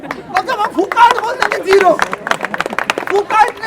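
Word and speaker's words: Foucault: फुकाल्ट और फूको, हम लोग फुकाल्ट बोलते थे, तो क्या पता है वहाँ फूको बोला जाता है, और जब हम फुकाल्ट बोल देंगे जीरो।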